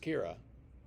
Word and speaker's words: Kira: Or Yeah, it's pronounced Kira. It's originally Russian, I think.